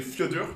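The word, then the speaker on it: fjörður: En Islande, c'est Fjödur. Fjödur. Vous avez des Fjödur absolument partout. Le fjord de machin. Patrick's Fjödur, le fjord de Patrick.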